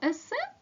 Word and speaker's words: есе: знали ви діти що слово есе прийшло до нас із французької мови тому наголос ставимо на останньому складі попрацюємо далі вправа 11та